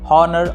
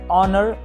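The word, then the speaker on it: honor: आप इसे हावर, honest, हॉनर और हॉमेज पढ़ने की गलती मत कीजिएगा, बल्कि इसकी सही प्रोनाउंसिएशन होगी आवर, ऑनेस्ट, ऑनर और ऑमेज।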